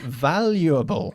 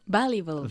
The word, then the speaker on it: valuable: Valuable, ¿ok? Valuable, again. Valuable. Valuable, empezando con la V.